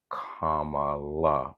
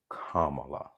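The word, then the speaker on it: Kamala: it now if you were still pronouncing or mispronouncing her name you're doing it on purpose this just a personal thing commala it's not hard commala it's not hard okay I'm done with that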